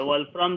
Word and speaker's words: Wolfram: वोल्फ्रम जो है WOLFRAM, जिसको स्पेलिंग नहीं पता है, हमको भी कंफ्यूजन था।